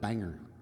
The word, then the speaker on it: Bangor: I always wondered if it was Bangor or Bangor, but I think it's Bang. I think he pronounces it Bangor.